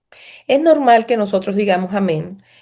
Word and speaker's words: amén: estrecho o estiro, digámoslo, estiro la última parte que es la EN. Pudiéramos decir que sería un amén.